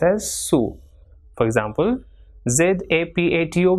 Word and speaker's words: zapato: For example, ZAPATO will be pronounced as zapato.